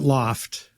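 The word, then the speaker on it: L0pht: Um, and I think we we pronounce it loft. Thank you. Because it it was more as a play on, you know, a an industrial loft space, right, in a factory building was where we were.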